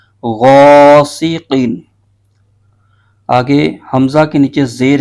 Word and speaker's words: غاسق: اس کے ہجے یوں کریں گے غائن الف زبر غا سین زیر سی غاسی قاف دو زیر قین غاسقین.